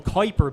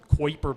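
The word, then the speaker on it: Kuiper: is What's called the Kyer belt Kyer belt Kiper belt however you want to pronounce it q k k u i p e r um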